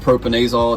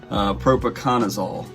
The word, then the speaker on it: propiconazole: So I call it propanazole. It's how I know to pronounce it. I'm from West Virginia, don't judge me. Propiconazole. That's look like what you actually call it.